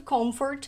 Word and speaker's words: comfort: e aqui uma dica essa palavra conforto na hora de pronunciar o m quando a gente vai até ali no finalzinho da letra m a boca fecha ela completamente células lábios é com forte como Ford com morde com Ford Cold Comfort for Change